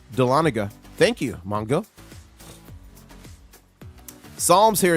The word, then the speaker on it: Dahlonega: If you move there, pronounced Dahlonega.